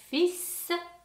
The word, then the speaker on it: fils: Le fils, ne pas prononcer le L dans fils et la fille.